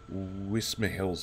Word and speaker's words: Wismerhill: tour with me JT this time we're doing whisper Hills base see I got it right I took